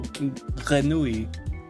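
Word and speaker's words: grenouille: Oh, granui.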